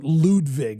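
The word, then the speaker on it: Ludvig: Or Ludwig, as we learned how to say it.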